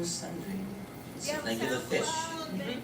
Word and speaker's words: Sundry: Sundry. Spell it. like the fish. You found me. Last name, sun and dry. Like the drought.